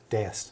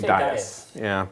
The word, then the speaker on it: dais: How high up is the, I've never known how to pronounce it, it is - Dais - Dais, okay - Dias - I always wanna say Dias - D-A-I-S - And is this like a big vaulted hall?